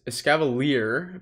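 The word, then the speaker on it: Escavalier: counter user in the front this is a scavalier pronouncing it correctly now um is or was probably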